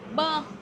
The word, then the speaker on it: bơ: Bơ, How do you say avocado?